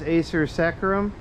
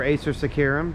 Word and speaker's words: Acer saccharum: this is a sir sacrum or Acer saccharum depending on your preference of pronunciation it is the sugar